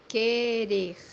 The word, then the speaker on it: querer: which means in Portuguese, Querer. Querer. as you see here, letter U or U in English is not pronounced, is silent, and the digraph is pronounced only K.